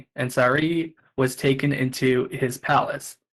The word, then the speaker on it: Sarai: And in the Hebrew, you would say Sarai. They usually put the stress or the accent on the last syllable. So you might say Sarai. In English, when you anglicize it, you could say Sarai.